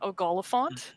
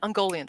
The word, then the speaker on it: Ungoliant: So they're not Ogoliphant, but is that how you say it? From the Silmarillion, but they're still massive. Ungoliant? Ungoliant, thank you.